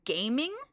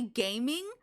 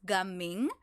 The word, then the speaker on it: Gaming: I think his name is technically going to be, like, pronounced Gaming. So I'm saying Gaming. I don't think his name is going to be gaming, like, at all.